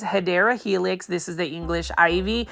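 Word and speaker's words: Hedera helix: So, you can see over here we've got a bunch of Hedra Helix or the correct way to say it is Hideera Helix.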